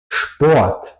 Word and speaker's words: Sport: Pues la segunda sílaba empieza con la SP, por eso se pronuncia SCHP. Besprechung, Conferencia. Sport, Sport, deporte.